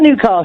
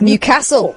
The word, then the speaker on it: Newcastle: one was you mentioned Newcastle earlier. Yes. I've just moved up here, and I was calling it Newcastle. Yeah. And I got told off for it. It's not Newcastle. It's Newcastle. Newcastle, yeah.